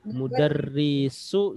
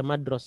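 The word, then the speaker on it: مدرس: ya, mudarrisu si atau sa. Mudarrisi. Ya, mudarrisi. Pokoknya kalau ketemu dengan yang seperti ini jangan dibaca madros ya. Bacanya mudarris.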